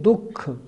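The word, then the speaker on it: दुःख: बहुत से लोग बोलते हैं सुख दुख, दुख नहीं दुख, दू के बाद विसर्ग दिया हुआ है।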